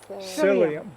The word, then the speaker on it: psyllium: Is that the same as psyllium husk? It's like it helps things move along. Yes. How do you pronounce it?